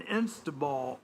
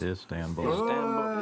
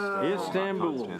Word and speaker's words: Istanbul: Uh Zalinski and Putin to meet in Insta Ball. Instab Install. Geez. Istanbul. Istanbul. Thank you. It's too early. That's That's the word that actually is pronounced like it looks.